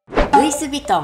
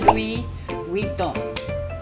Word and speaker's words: Louis Vuitton: 所以完全没有 V 的发音哎，对，跟日本人一样，日本人也没有 V。